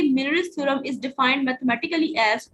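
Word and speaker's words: Meusnier: तो आज जो हमारा मोस्ट इंपोर्टेंट थ्योरम है उसका नाम है मिलरिस थ्योरम। इसकी प्रोनाउंसिएशन जो है वो काफी डिफरेंट है। कुछ लोग इसको म्यूरिस थ्योरम कहते हैं, कुछ लोग इसको मिलरिस थ्योरम कहते हैं।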